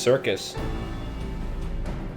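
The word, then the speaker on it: Syrcus: circus trench circuit yeah that took me forever to know how to pronounce that it is indeed just circus or cycrus i don't i think it's just circus so hurry boulder do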